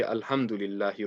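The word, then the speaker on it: الْحَمْدُ: Well, a lot of people might say Alhamdulillahi Rabbil Alamin. They won't pronounce the ha clearly. So make sure that the ha is pronounced nice and clearly.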